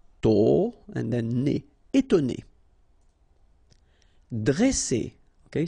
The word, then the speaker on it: dresser: ne, étonner, dresser, okay, same thing here, vowel, vowel, double S, so you pronounce it really strong like S, okay? Dresser. And then when you get a double consonant after a E, you open the sound of the E, so it will be like E, dre, dresser.